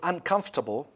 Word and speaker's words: uncomfortable: In word building, in the word uncomfortable, by the way, it is pronounced uncomfortable, not comfortable or something like that.